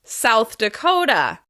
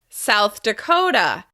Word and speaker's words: South Dakota: Once again, we're going to stress the second syllable of the second word. South Dakota. South Dakota.